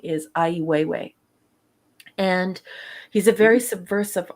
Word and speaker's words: Ai Weiwei: in the art community i believe how you pronounce his name is ai weiwei and he's a very subversive artist and what